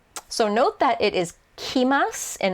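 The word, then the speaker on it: kimasu: So basically, you drop the ru, add a te, and then change the first syllable from ku to ki. But just remember in your brain that it is kimas.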